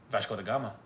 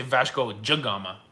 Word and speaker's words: Vasco da Gama: Vasco was a Portuguese guy, so probably the karaokes are saying it right. Vasco da Gama. See? But in Brazil, you say Vasco da Gama. Really? Because DE is J. Ah. Like Rio de Janeiro.